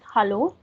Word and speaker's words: hallo: This is hallo. That means hello in English. Hello. Hello. Hello. Hello. Yes. Hello. Like yes, in English, like we say hello, a, but in German we say hallo. Hallo.